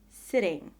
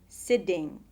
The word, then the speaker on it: sitting: in an unstressed syllable it is spelled with a t or a Double T but is pronounced as a short very soft d d d sitting sitting it is not